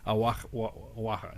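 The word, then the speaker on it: Oaxaca: when you spell AA, there's that X in there in Aaka. Aaka. It's spelled O A C A. Awaka.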